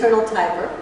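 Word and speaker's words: Tiber: director of T again we got to pronounce this right to say Tyber okay the Eternal Tyber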